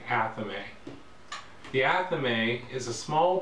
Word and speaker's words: athame: Although some people may pronounce it as a thami, I pronounce it athame.